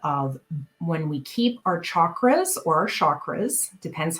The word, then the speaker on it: chakras: when we keep our chakras or chakras depends how you want to pronounce it again if it's sanskrit it is typically the hard ch but keeping our chakras aligned is uh helpful